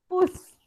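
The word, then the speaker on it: Fuß: Last जो है, last जो वर्ड है वो है फुस, उसमें ये एस का हम लोग जो प्रोनाउंसिएशन है वो एस एस एस एस करने वाले, फुस मतलब फुट, पाव।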